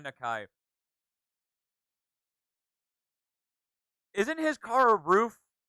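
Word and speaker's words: RUF: ] roof literally and it's not pronounced rough it's pronounced roof and rgt btr3 btr2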